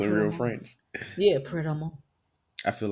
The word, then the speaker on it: Pret A Manger: What's called Pret a Mange? I've been saying it wrong, not just a little bit, like for years. It's not Pret a Manger, it's Pret a Mange.